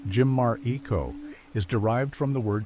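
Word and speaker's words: Chimariko: The name Chimarico, pronounced Jimmar Eco, is derived from the word Chimar, or Jimar for person.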